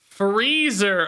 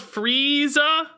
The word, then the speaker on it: Frieza: It's pronounced freezer. Fire Diablo and Fell Diablo. Thanks for the 20 months. Who cares, dude? You guys don't call it Frieza? we call it the Frieza.